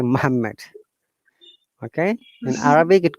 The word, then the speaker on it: Muhammad: a native will say Muhammad, they will not say Muhammad.